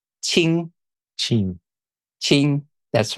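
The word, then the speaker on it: Qing: g it's so uh in Mandarin it's called ching ching ching that's right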